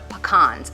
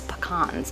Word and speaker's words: pecans: Finish this part of the recipe, we're gonna actually mix in our coconut and our pecans. And yes, that's how you say it. It's pecans, not pecan.